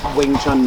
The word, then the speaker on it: Wing Chun: is really bad uh when they first fanaticized Wing Chun they used a v instead of a w which is not accurate but it's supposed to be pronounced Wing Chun nonetheless so they have no